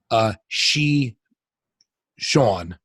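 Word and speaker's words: Shichon: so we're getting a she Shawn is the name of the really she Sean hey she Sean for anybody who's not familiar is a combination of shih tzu and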